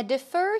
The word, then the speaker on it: defer: for another time now defer here also means to postpone okay put off till a later date or a later time defer the stress goes on the second syllable de fer de fer de fer I'd like